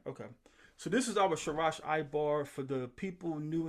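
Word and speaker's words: שרש: And then you see the Shah again, and we know in between our letters is a short A sound, so we say Sharash.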